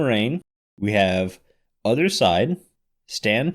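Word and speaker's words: Raine: is uh it's not completely clear how to pronounce it but it's rain like like rain mhm the other composer uh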